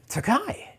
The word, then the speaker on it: Tokaji: Tokai. Yes. Yeah, spelled Tokaji, Tokaji. Yeah.